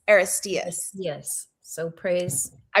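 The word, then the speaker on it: Aristaeus: So, it's spelled A R I S T A U S, but it's pronounced Estas. Aristas.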